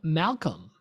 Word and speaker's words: Malcolm: I mean, listen, we all talk about this all the time, but let's listen to this question from Malcolm with a silent L.